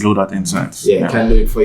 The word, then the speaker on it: BlueDot Insights: Blue Dot, let me say it properly, BlueDot Insights. BlueDot Insights.